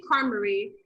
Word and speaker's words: Carmery: little sister calls me carl like she just says it did i i say car marie she calls me carl and i'm like is it is it wrong it's not how i pronounce it but i was like